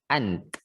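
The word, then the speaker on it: أنت: Lebih mudahnya kalau satu orang yang kita ajak bicara itu kita sukun aja huruf terakhirnya. Jadi kita bacanya ant seperti itu.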